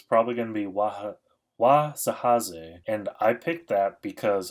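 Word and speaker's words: Wahzhazhe: I'm pretty sure this is pronounced Wazahaze.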